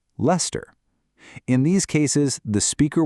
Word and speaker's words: Leicester: You might also encounter place names that are not pronounced how they are spelled, like Leicester in the UK, which is pronounced Leicester.